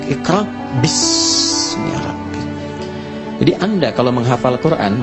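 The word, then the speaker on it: اقرأ باسم ربك: Itulah sebabnya ketika walaupun di sini ada alifnya, tetap dibacanya cepat dan pendek. Iqra bismi rabbik.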